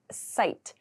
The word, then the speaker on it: cite: To site the pronunciation here is site.